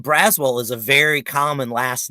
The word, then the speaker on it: Braswell: asked is because they everyone pronounces a brazzle also say it's one word what's your name mr brazil so i was just curious right well i think it's braswell as far as you're concerned